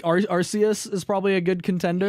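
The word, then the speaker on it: Arceus: here yeah I mean I don't know like arus is probably a good Contender yeah not archus someone's going to be like wait you pronounce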